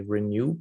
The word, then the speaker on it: RENU: So we developed what we call the RENEW program. So it's RENU for renal nutrition, and it rhymes with, you know, you renew your kidneys, if you will.